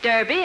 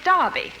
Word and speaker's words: Derby: Just like here in America you say Derby, and over there we say Derby.